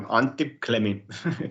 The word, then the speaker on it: Antti Klemi: Antti Klemi. Is that how you say it? It's quite, yeah, Antti Klemi.